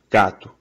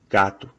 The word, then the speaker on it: gato: So, I'll say it a couple times as it looks like it's pronounced, and then I'll say it a couple times as it actually is. Gato. Gato. That is not how it's pronounced. It would be pronounced like this.